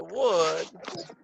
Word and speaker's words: would: If I had more money, I would probably go to the concert. Right? And again, pronunciation. Would. Same as Madera, right? Most imagine Would. that. Would. Good. Good. So, same sound as good, right?